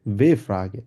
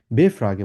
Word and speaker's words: W-Frage: হচ্ছে ইংলিশেওর মতই আসলে এগুলোকে বলা হচ্ছে ভে ফ্রাগে যেহেতু আমরা জার্মানে ডব্লিউ কে আমরা ভে এর মত উচ্চারণ করি এজন্য আমরা বলি হচ্ছে কি ভে ফ্রাগে বলি তো আজকে আমরা অনেকগুলো